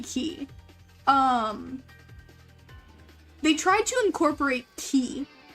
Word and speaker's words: Ki: to incorporate Ki into, did they even call it Ki? Did they call it Kai? Like, how did they pronounce it? It's supposed to be Ki.